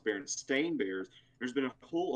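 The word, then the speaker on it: Berenstain: berenstein bears right well i've always called it berenstein bears but it's actually pronounced baron stain bears there's been a whole argument with that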